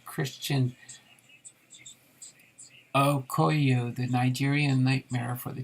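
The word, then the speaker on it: Okoye: like you're having a little trouble pronouncing christian okoyo the nigerian nightmare for the chiefs pronounced akoya thanks there bakery koya all right well we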